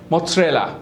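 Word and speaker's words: mozzarella: ऊपर जो चीज लगती है उसे बोलते हैं मोरेला तो स्पेलिंग है मोजरेला मोजरेला देर इ नो टी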